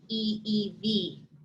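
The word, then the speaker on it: ʻiʻiwi: rule is this exception if you have an i or an e before a w we pronounce it like v so instead of e e we it's actually e e v and a lot of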